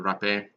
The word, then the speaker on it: rapé: in English and they just call it Rafi and in French it would be called the rough a so rough it is